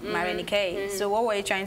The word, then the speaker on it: Marenikae: name like David why how I mean the pronunciation is different right miron ek so what were you trying to achieve because living in Atlanta people always want to call me more Nike just right off the bat okay I'm just